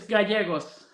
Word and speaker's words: Gallegos: Well, we welcome Gallegos. Did I pronounce it right? Yeah, it's good. It's Gallegos.